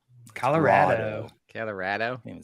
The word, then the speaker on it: Colorado: No, but you've been lying to them about how you pronounce Colorado. I do. I say Rado. Colorado.